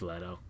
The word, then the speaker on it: Leto: Jared Leto that's Jo its Leto my friends in his band like the Lido deck on a cruise ship it's Jared Leto it's like where you